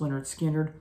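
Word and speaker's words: Lynyrd Skynyrd: favorite southern rock album pronounced Leonard skinnard Leonard skinnard just a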